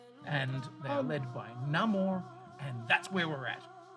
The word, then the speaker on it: Namor: freak in the room I pronounce it no more because I like that better than Namor from Atlantis yeah yeah